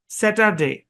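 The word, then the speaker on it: Saturday: প্রথম যে দিন, এই দিনের নাম হচ্ছে স্যাটারডে। স্যাটারডে একটু ভেঙে দেই। আপনার এখানে ভাগ হবে, এখানে ভাগ হবে। প্রথম অংশের উচ্চারণ স্যাট, পরের অংশের উচ্চারণ আর, এর পরের অংশের উচ্চারণ ডে।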